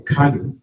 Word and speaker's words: Kano: Interestingly, apart from Adamu, they came from Kano. It's not called Kano, it's Kano. It's the proper pronunciation. K-A-N-O is Kano. It's not Kano.